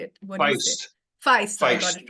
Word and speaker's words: Fiest: yeah super and tell me how do you pronounce your surname it's Bill fiest or Feist how do you say it what you Feist got it right yeah I I said B